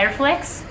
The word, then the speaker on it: RFLEX: 5 per cento disco si chiama tessera e flex come pronunciano loro state attenti anche allora